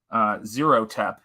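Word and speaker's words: Xerotep: But yeah, this is definitely when one of the villains of Nosfero's, childhood and formative years, Zerotep, and I love that name. It's Zero spelled with an X, and he's a real piece of work.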